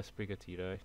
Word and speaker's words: Sprigatito: How do you pronounce the cat one? Sprigatito? Yeah, Sprigatito.